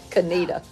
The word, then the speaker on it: Conetoe: No, it's Coneta, Kanita.